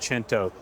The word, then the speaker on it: Cento: Looks like Cento, pronounced Cento.